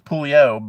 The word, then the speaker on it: Pouliot: If you want to be French with it, it's Pouliot, but I always pronounce the T because people don't get it. So we always pronounce the T in my family.